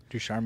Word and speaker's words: Ducharme: Ducharme, yep. Yeah, so Caufield was only shooting at 1.4% under Ducharme. And the team was shooting at just like 6.4% under Ducharme with Caufield on the ice.